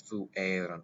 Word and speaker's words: fuerunt: Notice fuerunt with a long E right there.